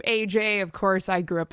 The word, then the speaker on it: Ajaye: tell us about the story of your name, because it is pronounced AJ, but you know, t- It's spelled out.